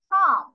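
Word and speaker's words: calm: পরিষ্কার fails cat ইজ কাম সি এল এল কাম নট কাউ এলটা এখানে আমরা pronounce করবো না এটা উজ্র মতো থাকবে সোস ক্যাট ইজ কাম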